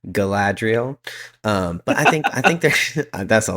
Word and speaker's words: Galadriel: Yeah, so I was told I was saying Galadriel I was forgetting that first A, so Galadriel. But I think that's a long time to say that. Zach, you're welcome. But Galadriel, I think is does